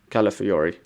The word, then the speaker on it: Calafiori: Calafiori, that's how you say it.